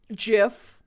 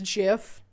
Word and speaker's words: GIF: to pronounce it right GIF it's GIF right it's GIF it's like the peanut butter right uh that's a